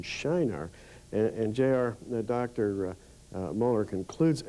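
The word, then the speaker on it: Çınar: Well, if you look at carefully, it spells C-I-N-A-R, but the C has a little stroke at the bottom of it, which means pronounce this like an S.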